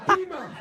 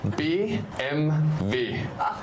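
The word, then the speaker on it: BMW: A beamer? No, no, no, no, no, no, no, no. You leave the show right now. A be like a projector. It's a respectful card that demands the respect. Yeah. It is B MV.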